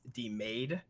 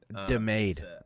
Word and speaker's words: DeMade: I just want to let you know that my last name is pronounced DeMade. DeMade.